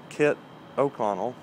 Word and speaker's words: Kit O'Connell: he is at Kit O'Connell, and I think that's how's his name spelled, Carrie? KITOCONNELL, I believe. Yeah, Yeah. that sounds right. How do you pronounce it? Kit O'Connell.